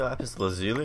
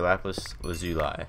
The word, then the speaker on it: lapis lazuli: say lapis lazuli or lapis was you lie I just say lapis just cut it short yep how do you say well i usually say lap is but i usually say laughs lucy lee 5 setting the whole